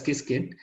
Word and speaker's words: Qiskit: It is pronounced as Qiskit.